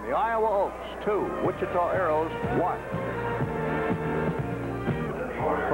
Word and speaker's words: Aeros: arrows and incidentally uh arrows is not spelled a-r-o-w-s as though it's uh even though it may be pronounced that way or sound like it it's a-e-r-o-s because it has to do of course with the famous wichita aeronautical factories down there ground ball bouncing